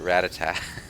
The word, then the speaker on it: Rattata: Everyone I knew pronounced it Ratata. That's what I Rattata. do too. It's like it was a machine gun.